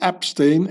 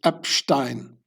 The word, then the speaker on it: Epstein: So it's not Epstein, it's Epstein.